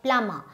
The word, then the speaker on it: plumber: plumber' no it's a plumber so this B is silent so you will say plumber I am a farmer